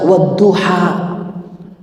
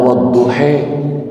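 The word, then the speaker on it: والضحى: bacaan Qurannya enggak bisa wadduha baca ya Waduh Pulang Nabi ke Kota Madinah wahai para sahabat ketika aku bertemu dengan teman-teman di sana mereka enggak bisa baca wadduha bacanya wadduhhe ini namanya imalah kalau di ilmu qiraatnya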